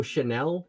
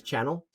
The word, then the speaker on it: Chanel: in the field uh cable chanel but everyone mispronounces it as channel uh and the in